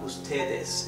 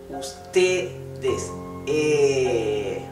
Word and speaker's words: ustedes: Letter E is pronounced with a very open mouth. Not it's not ustedes, it's ustedes.